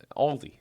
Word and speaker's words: Aldi: people say Aldi or they also sometimes add an s that isn't there in theend yeah because